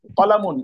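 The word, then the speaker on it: قلم: কিতাবুন একটি বই, কিতাব কিতাবুন একটি কিতাবুন একটি কিতাবুন বই, একটি বই, কলামুন একটি কলম। কলামুন কলামুন কলামুন কলামুন একটি কলম, হ্যাঁ, কলাম কলামুন বলতে টান হবে না, কলামুন একটি কলম কলম।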